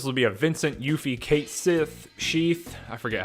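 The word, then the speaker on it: Cait Sith: Nessa is saying, I heard this will be a Vincent, Yuffie, Kate Sith, Sheath. I forget how we were told that is supposed to be pronounced, but Shay, Kate Sith.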